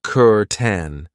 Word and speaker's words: curtain: I know it looks like cur, but we pronounce it kuren.